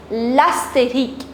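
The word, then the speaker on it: l'astérisque: That's known as l'astérique.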